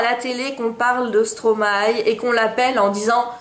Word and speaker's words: Stromae: Donc vous devez prononcer Stromae comme si vous disiez aïe à la fin où il n'y a que maille qui maille. Voyez l'affaire. Stromae.